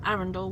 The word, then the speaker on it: Arundel: I always say it wrong. Arundel. I always say Arundel for some reason, but Arundel.